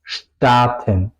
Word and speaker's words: starten: No es como en inglés to start, es starten, ¿ok? Porque es al principio de la sílaba, tengo que pronunciar la ST, SCHT, starten, ¿ok?